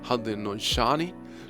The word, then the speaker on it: Haudenosaunee: Nueva Inglaterra y Canadá, los Haudenosaunee, así como se pronuncia en inglés, Haudenosaunee, los Cherokees, miren, en